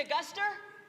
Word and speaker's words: Augusta: heard it over here you say a Guster you from Maine cuz that's how you say it west wicked awesome did